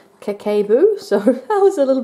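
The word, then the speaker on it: Kakeibo: it so here it says that it's actually pronounced kekkai boo so that was a little bit off in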